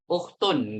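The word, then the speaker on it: أخت: A itu ya bacanya kalau di sini itu u nggak mungkin a ya karena di sini memang ukhtun nggak bisa jadi Apa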